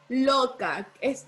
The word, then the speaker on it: loca: ¿Dónde lleva el acento la palabra loca, Dana? Lo. En lo, la palabra loca lleva el acento porque no es loca, ¿verdad? Sino que es loca. Loca. Lleva el acento en la sílaba lo.